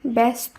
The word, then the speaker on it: ব্যস্ত: ধ্বনি হিসাবে হবে তাই ব্যস্ত শব্দের উচ্চারণ ব্যস্ত এভাবে এ যোগে করতে হবে অপরদিকে ব্যক্তি শব্দের উচ্চারণ